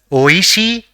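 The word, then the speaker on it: おいしい: say the fourth word the first character in the word is o the second is e the third is she and the fourth is again e so it will be pronounced as Oishi which means tasty or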